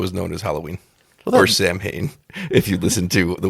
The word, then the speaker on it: Samhain: Or Samhain, if you listen to the way Dr. Loomis pronounces it in Halloween 2. Samhain. But he pronounces it Samhain.